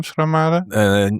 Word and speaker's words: Schramade: Today I have Willem Schramade, the Dutch pronunciation. Do I have to say Professor Willem Schramade?